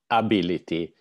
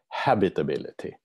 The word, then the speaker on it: habitability: It's Melissa is of French origin, so she says ability when we in English should say habitability, because the H should be pronounced.